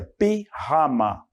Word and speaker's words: pijama: El pijama, ó, se escreve da mesma forma, pijama, mas a pronúncia pijama.